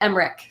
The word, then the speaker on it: Emmerich: someone mispronounced my name but it's it's emrick emmerich okay it's okay that